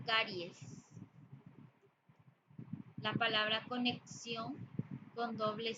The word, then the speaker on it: caries: lo correcto también car tengo una carie eso es incorrecto lo correcto es decir caries la palabra conexión con